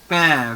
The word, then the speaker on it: pain: Pain. Very good. Pain means bread. Write the meanings also and the pronunciation.